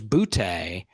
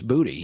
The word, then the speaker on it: Boutee: It was Butte, but it's Booty. He says it's Booty.